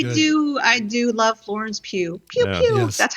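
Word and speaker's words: Pugh: an interview she goes, "How do you pronounce my name? Think pew pew."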